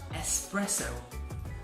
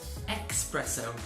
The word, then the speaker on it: espresso: up feel energetic however the pronunciation is espresso not expresso there's no X so espresso and the